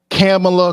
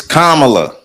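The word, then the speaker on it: Kamala: a contention uh for camela kamla Kum whatever the hell how the hell they want to say that say her name it's kamla so I don't say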